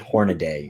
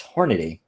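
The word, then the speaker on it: Hornady: It bugs the hell out of me when people pronounce it Hornaday. It's just, it's ridiculous. It's Hornaday.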